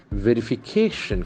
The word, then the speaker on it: verification: We'll see how the accent acts upon this word. Verification. Okay, verification. Can see accent falls the third syllable. Cation. So brilliant.